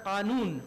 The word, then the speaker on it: Qanun: His most important medical works are Qanun. Qanun is what we call law. They call it canon because they cannot really pronounce it.